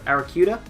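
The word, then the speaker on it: Arrokuda: will just drop you can get an Eric Eric kuda is how you pronounce its previous evolution as early as rap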